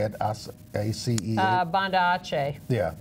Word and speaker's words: Banda Aceh: Banda Aceh.